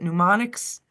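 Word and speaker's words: mnemonics: correct me is it pneumonics menom pneumonics pneumonics pneumonics pneumonics no you don't pronounce the M it's like pronouncing ponics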